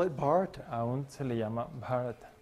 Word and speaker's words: Bharata: No, Bharata. Bharata. Yeah, it's a Long long A.